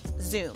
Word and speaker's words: XUME: see it written down X um II what you pronounce it zoo like a zoom lens so how does it